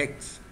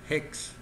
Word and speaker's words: hex: últimas letras es x Qué quiere decir X en realidad es hex hex porque la as se pronuncia en inglés hex de hexadecimal vale guardar y ahora me